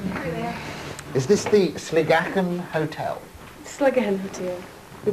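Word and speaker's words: Sligachan: Is this the Sligachen Hotel? Sligachen Hotel. We pronounce it Sligachen.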